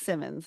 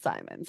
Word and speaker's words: Simmons: And just for everybody, it's Simmons, not Simons.